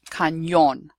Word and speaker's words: cañón: Okay, the letter ñ is pronounced as if there is a y after it. So in the word, for example, the word there's an accent, cañón. In English, we would write that canyon with a y in